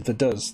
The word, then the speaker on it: Vaduz: But the way I would say it is Vaduz, the capital of Liechtenstein.